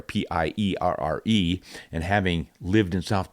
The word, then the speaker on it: Pierre: I see the word Pierre, P-I-E-R-R-E, and having lived in South Dakota where the state capital is Pierre, but everybody pronounces it Pierre, I find myself calling people with the name Pierre.